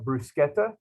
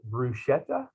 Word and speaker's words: bruschetta: apiece up to 15 points one type of brusquetta and yes it is properly pronounced in arkansas we call it bruschetta and so that's what it is one stuffed